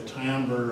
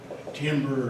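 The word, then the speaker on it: timbre: of overtones produces what's known as the tamber or Timber or tamber depending on how you like to pronounce it now in sound the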